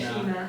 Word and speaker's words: China: And for Malay, it's kind of like the same thing, just instead of chai, because that's an English pronunciation, we say chi, so it's China. China. Negara China.